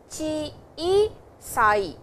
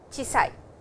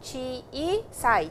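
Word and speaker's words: 小さい: Hiroi, chiisai, it is chiisai and not chisai. It is not a small sound, it is a long sound, chiisai, chiisai.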